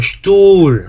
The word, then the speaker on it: Stuhl: 에스테는 스트가 아니고 어떻게 된다? 슈투라고 발음해야 되고, 모음하고 뒤에 하가 나오면 어떻게 읽는다? 바로 앞에 있는 모음을 길게 발음합니다 라고 했죠. 앞에 있는 모음을 길게 발음한다. 그래서 우가 길어지는 거죠. 우. 그래서 슈툴 이렇게 발음한다고 했죠.